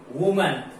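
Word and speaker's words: women: वो जैसे example वुमन, वुमन वुमन वुमन यानी महिला, ये अगर इसका प्लूरल बना देते डब्ल्यू ओ एम ई एन तो विमिन हो जाता। उच्चारण प्रोनाउंसिएशन का ध्यान रखें।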